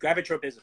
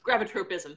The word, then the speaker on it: gravitropism: grab a tote but gravitropism gravitropism thank you I'm like I'm missing a syllable they're putting an extra one in and the way